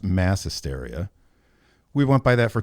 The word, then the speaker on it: Maẍ Hysteria: It's pronounced mass hysteria.